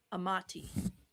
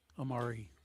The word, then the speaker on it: Amari: Amati. A m a ti. Amati. Yeah. Amari. Amari. R. Not T. R. Amari.